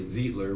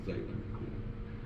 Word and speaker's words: Zeitler: it's spelled Zeitler, so everyone wants to say Zeitler when they say it phonetically, but it's Zeitler.